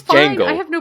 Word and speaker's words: Django: When he goes, "My name's Jango with a D." I was like, "That's pretty cool. This guy's pretty cool." He says, "The D is silent."